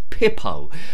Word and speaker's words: Pippo: Rhymes with hippo, but it's got a P on the front. It's Pippo.